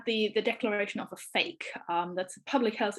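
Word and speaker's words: PHEIC: apparently i've been told fake is the correct pronunciation of the person who coined the name um in late january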